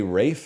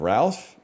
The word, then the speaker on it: Ralph: Is there a reason you say Rafe instead of Ralph? Yeah, cuz that's how his name is pronounced.